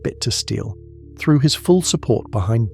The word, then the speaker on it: Bittersteel: Aegon Rivers, known as Bittersteel, pronounced bit to steel, threw his full support behind Daemon Blackfyre.